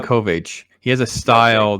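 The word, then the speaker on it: Sienkiewicz: Bill Senkovich. Is that how you say his name? Bill Yeah, Senkovich? I always get his name wrong too. I always want to say Sankovic. Yeah. I think it's um, Senkovich.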